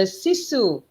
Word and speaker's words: sisu: are very proud of, the sisu culture. Did I pronounce it correctly? Yes, you do, and that is very Finnish thing.